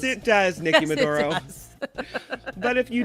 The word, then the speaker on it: Medoro: This is the Nikki Medoro Show. Do people text you and say they spelled my name wrong? Is that why you emphasize the meh in it?